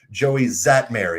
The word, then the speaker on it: Joey Szatmary: I've got the pronunciation written here so I didn't mess this up. Joey Zatmary. Is that correct? There we go. Yes. All right. We got we got the man Joey Zatmary on here.